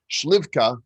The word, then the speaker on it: Schlievka: we have with us mr lucas schlievka who is the head of engineerifying at wax i just made a very good pronunciation of my last name look at you girl